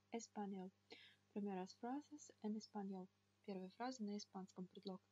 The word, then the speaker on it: español: Волнистая линия над буквой n означает, что звук нужно читать мягко. Español. Primeras frases en español.